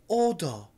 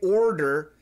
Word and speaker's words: order: already in our head we say Aldo Aldo so even when we hear an Americans say order we cannot repeat because in our head